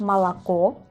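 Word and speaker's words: молоко: Ejemplos que siguen la misma regla es malac. Malac. Vemos aquí leche o gorat.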